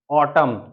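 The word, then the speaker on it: autumn: यहां पर हम पढ़ेंगे जब किसी शब्द में एम के बाद एन आता है तब एन हमेशा साइलेंट होता है तो एन कैसे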